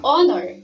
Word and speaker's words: honor: like the word hourglass honor starts with a consonant letter h but when we pronounce the word honor we cannot hear the sound of h instead it begins with the sound of honor that is why we